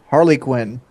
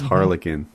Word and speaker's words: Harlequin: huh okay sweet a good word Harley Quinn Harley Quinn its Harlequin Harlequin yeah did you just